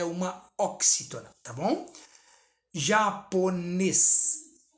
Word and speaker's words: japonês: Japonês. Japonês, tá vendo? O ne se destaca, última sílaba, oxítona.